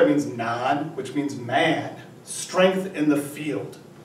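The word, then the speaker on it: 骂: know galloping horse so if you put two little boxes over it it is pronounced ma means to curse someone to curse someone and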